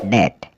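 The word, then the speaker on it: debt: डी ई बीटी डी ई बीटी में बे silent रहेगा और इसको बोलेंगे डेट डेट मतलब कर्ज डी यूएम बी डम डम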